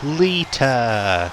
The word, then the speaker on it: Lita: I'm sure there's meant to be a T in there. Lita, not Lita. The name is not spelled L-E-A-D-E-R. It's spelled L-I-T-A.